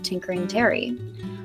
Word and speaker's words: Tinkerin: Rattlesnake's first stop was to his gunsmith of choice, a revenant by the name of Tinkerin Terry, no G. G is silent.